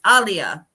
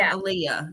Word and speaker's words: Aaliyah: Or I guess I should say I always struggle with how to say her name because it's not how everybody thinks. It's Aaliyah. Aaliyah, not Aaliyah.